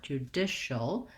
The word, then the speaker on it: judicial: And then we have the CIAL says shul. So we have an SH sound, even though it's spelled with the CI. Judish. So just like the word dish, but short, judicial.